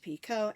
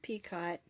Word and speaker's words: picot: picot on top and I've heard it pronounced picot and P cut just depends on what part of the world you live in I believe it